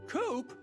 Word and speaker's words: Coop: you say mister coop you can call me coop coop that rhymes with scoop i think we're gonna